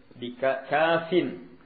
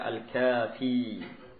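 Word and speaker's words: كافٍ: Kafin. Ini cara bacanya kalau tidak pakai al. Kalau pakai al dibaca al-kafi. Hanya ini di sini tidak pakai al.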